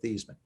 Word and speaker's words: Theismann: i'll explain it later just tell me how do you pronounce our last name he said thiesman and i turned to